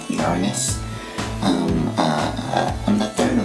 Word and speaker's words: Uranus: go toles hi some people pronounce my name yanus but it's actually pronounced Uranus um uh I'm the